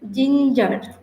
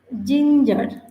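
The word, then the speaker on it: ginger: আই এন জি ই আর এটার উচ্চারণ হচ্ছে জিঞ্জার এটার উচ্চারণ হচ্ছে আমরা যদি ভালো করে একটু খেয়াল করি তাহলে এটার উচ্চারণ হবে জিঞ্জার জিঞ্জার যার বাংলা হচ্ছে আদা জিঞ্জার যার বাংলা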